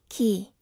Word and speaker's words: quay: earnings that's how confident i am survey says key oh man final jeopardy i was gonna say it that way too wait no there's an alternate pronunciation no it's supposed to look it says quay right there no that's not how you read